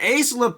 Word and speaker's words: AISLPC: Well, who else to the rescue but our old/ new buddies at Ace Leuk, that's how you say it.